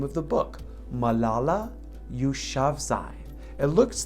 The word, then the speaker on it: Malala Yousafzai: and that's actually the name of the book malala yushavsai it looks like malala yousafzai but it's actually pronounced malala you shavzai can you say that with me malala you shavzai it's a pretty cool name right and it